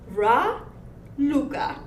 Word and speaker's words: Raluca: and it's very easy to call me Dracula if you add a D in front of my name I never even thought of that I but my name is RA Luca raluca did I say it wrong